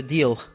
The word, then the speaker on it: Diehl: Okay, Dal is I think it's how it's pronounced your surname.